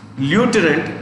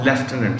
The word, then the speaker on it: Lieutenant: This is pronounced Colonel. And this is Lieutenant or Lieutenant.